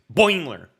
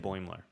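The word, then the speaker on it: Boimler: boymler and rutherford do you said it wrong it's boiler what did i say you said boimer oh it's boiler yes okay no boiler baimler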